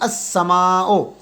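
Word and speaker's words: السماء: के साथ मिल जाएगा अलिफ और लाम दोनों साइलेंट हो जाएंगे ये अलिफ तो हमने इसलिए रखा हुआ है कि इसकी आवाज प्रोनाउंस करने के लिए अस समाओ हजल वसल इस ये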